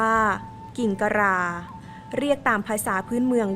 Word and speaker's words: กิ่งกะหร่า: มี ลักษณะ คล้าย นก ซึ่ง จะ ออก เสียง ตาม สำเนียง ไท ใหญ่ ว่า กิ่งตะรา เรียก ตาม ภาษา พื้น